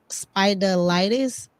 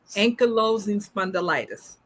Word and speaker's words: Ankylosing spondylitis: And not only do we have our lupus warrior, amongst other things, we were discussing lupus and spidolitis. Did I say it right? Ankylosing spondylitis.